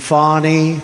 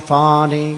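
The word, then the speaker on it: Fani: attorney generals and fonnie fonnie you know fonnie spelled f a n i my name is fonnie f a and I I don't figure it she put a little French accent on the word with her lover Wade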